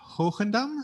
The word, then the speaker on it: Hoogendam: So HOOGENDAM, let's try and pronounce it also the proper Dutch way. Yeah, you're good. Say it again, please. HOOGENDAM. Yes, lovely. Oh. It's a soft G, but that's nice.